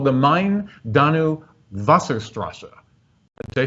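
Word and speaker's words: Main: river it's pre it's it's spelled m-a-i-n but it's pronounced mine and similarly for the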